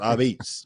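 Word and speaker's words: apizza: You just got to make sure you got to call it Abits. You got to say it like that. Abits, just like that.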